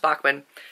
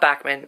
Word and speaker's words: Backman: and it is pronounced Bachman, not Backman, even though it's spelled Backman, but he's Swedish, so he can say it however he wants.